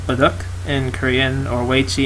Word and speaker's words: Baduk: Oh, you pronounce it Baduk.